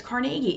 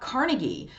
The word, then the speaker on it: Carnegie: But Carnegie Mellon, and I say Carnegie because if you live in Pittsburgh or you are familiar with the Andrew Carnegie family, the Carnegie clan, that's how you say it. It's Carnegie. It's not Carnegie.